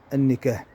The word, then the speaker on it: النكاح: كذلك كلمة النكاح، كثير من التلاميذ لا ينطقون هذه الكلمة بشكل صحيح، النكاح.